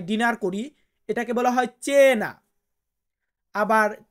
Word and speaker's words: ci: তারপরে কি আছে সি, মানে আমরা এটাকে বলি সি, আর ইতালিয়ান বর্ণমালাতে আমরা এটাকে উচ্চারণ করব চি।